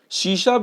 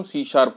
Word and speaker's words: C#: सी शार्प जो है उसका सी हैश लिखते हैं बट प्रोनाउंसिएशन सी शार्प होता है।